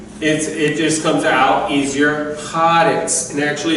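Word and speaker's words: הָאָרֶץ: ha there, it converts haaretz, just to make it easier to speak, haaretz, but it retains its signature. But the emphasis is still on the first syllable.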